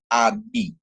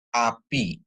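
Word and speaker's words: אָבִי: Terus kemudian ada alef dikasih kamats, dia a. Sedangkan bet dikasih hirik yod atau hirik male, dia jadi bi ya. Jadi dia bacanya abi ya, api ya, atau abi atau api, yang artinya adalah bapakku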